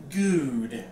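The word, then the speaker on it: Goode: pronounce our last name good it's a ooh not a uh okay that's what the E is for the end otherwise we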